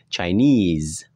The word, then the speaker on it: Chinese: Maka ini bacanya kalau semisal is-nya ini dibaca I panjang, maka yang tekan di sini. Chinese. Oke.